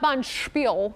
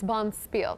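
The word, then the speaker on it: bonspiel: was it bon spiel it's not bon spiel it's bomb spiel correct leo oh thank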